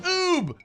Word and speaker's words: Oubre: In Louisiana, O-U-B-R-E is pronounced Oob.